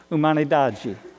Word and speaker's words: Humanidade: So it, the title of this class is, you pronounce that Somos Humanidade, and it's Portuguese for we are humanity.